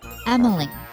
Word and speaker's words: Emyle: be easier so it if Kyle was pronounced the same way that Emily is pronounced the way you spell it it would be Killy nope ibean k yle